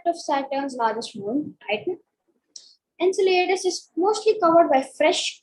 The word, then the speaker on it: Enceladus: So Enceladus, this is how you can see. In Greek, it's spelled differently, and regularly it's spelled differently.